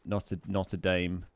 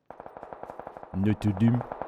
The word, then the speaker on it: Notre Dame: I mean, how do the French say it? Because, you know, it's French, right? Notre Dame. Notre Dame. Like that, right? That's French. You should say it like that.